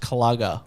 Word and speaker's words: Kluger: a when i say a kluger it's a it's a mid-sized up pronounced clogger that's yeah that was